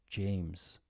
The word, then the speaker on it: James: So this sound here is j, like my name, James.